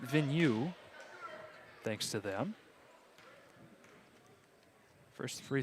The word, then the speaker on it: Vigneault: And it'll go against Vigneault. Vigneault, as I had one of our Bulldog filmers here from the JV squad. She informed me earlier how to pronounce that, Vigneault.